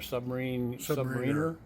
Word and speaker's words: submariner: You're a submariner?